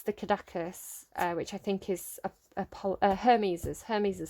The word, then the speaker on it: caduceus: But I think it's the Caduceus, which I think is Hermes' staff.